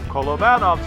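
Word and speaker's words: Kolobanov: And I changed my pronunciation to Kolovanov's because one great Russian subscriber sent me a note and actually explained that that is how you say it, Kolovanov.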